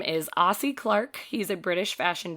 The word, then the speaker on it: Ossie: He's a British fashion designer, and Ossie is spelled O-S-S-I-E if anybody wants to look him up, because it also sounds like it could be spelled A-U-S-S-I-E, and it's not.